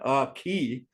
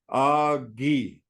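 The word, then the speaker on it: aakíí: easy one a female a woman is a a key two syllables uh ghee not a key a ghee okay uh in here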